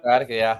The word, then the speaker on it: sciatica: Sciatica, yeah. Oh, there you go, sciatica.